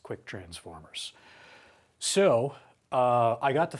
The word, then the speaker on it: ktransformers: Well, the overwhelming response to that video was use K transformers, which is pronounced quick transformers.